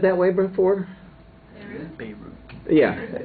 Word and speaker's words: Beirut: Beirut. Yeah, usually I've heard it long A sound, as opposed to that E type sound, Beirut, as opposed to Beirut, yeah.